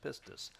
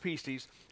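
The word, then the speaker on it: pistis: it's the word pises it looks like PS pistus um but it's pronounced pises and it was a word that would be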